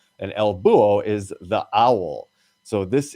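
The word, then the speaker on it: búho: at work you don't you don't pronounce the h in this particular word it's just booo and el buo is the owl so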